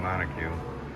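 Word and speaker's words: monocoque: He's using he's rebuilding a Lamborghini Monocogue.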